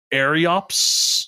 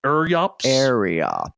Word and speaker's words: Eryops: It's Eryops or Eryops. Eryops. What was Eryops? Yops. Yeah, I always thought the Y was and the R were switched. But no, it's Eryops.